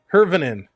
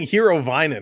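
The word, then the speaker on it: Hirvonen: Like Roni, pronounce Hervinin, like macaroni. Like macaroni. Oh, that's funny. Hervinin. Yeah, I think I've been saying Hero Vinen, haven't I?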